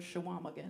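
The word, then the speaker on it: Chequamegon: guys don't know know how to say the word shawam again it has a q in it it is spelled c h e q u a m e g o n it's a yes it's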